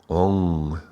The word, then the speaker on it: Om: this sound is nasalized, the final M is often assimilated into the preceding vowel as a nasalization, is called ranga, and as a result, Om is regularly produced like, more pronounced like Ong, Ong, Ong, in the context of Sanskrit.